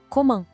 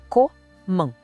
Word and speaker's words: comment: E para saber como, a gente usa comment. E olha aí o som nasal de novo no final. Para facilitar, vamos dividir em 2. Co-man. A segunda parte é a nasal, man. Tudo junto, comment.